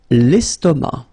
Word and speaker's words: estomac: L'estomac, l'estomac, okay, same thing here, final C not pronounced, and then M means that this word, estomac, is masculine, okay?